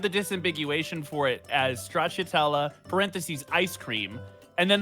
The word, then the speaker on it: stracciatella: Stracciatella? Stracciatella? Well, now, Gelato. okay. Spell it.